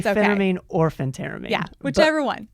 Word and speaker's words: phentermine: Is it Phentermine or Phenteramine? I've always pronounced it Phentermine. Some people say Phenteramine.